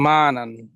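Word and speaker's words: معاني: এই জায়গায় আছে হলো মা আনান। মা আনান মানে হচ্ছে মিনিং। মা আনান, মিম আই নুন ইয়া, লিখতে গেলে একটা ইয়া আসে শেষে, কিন্তু উচ্চারণে ইয়াটা আসে না।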